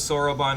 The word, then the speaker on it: Soroban: Okay, so Koji definitely had a hand in that joke because Soroban has the same number of syllables as Superman.